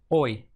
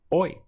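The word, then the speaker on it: hoy: mañana the word for today in Spanish is boy boy this hate remember is silent in the pronunciation boy try to say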